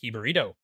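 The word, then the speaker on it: jibarito: eat the national food of Chicago He burrito pronounced hi burrito it's a Chicago born sandwich inspired by the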